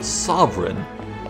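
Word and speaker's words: Sovran: They're celebrating the return of their sovereign, which sounds like sovereign, but is spelled in the subtitles S-O-V-R-A-N.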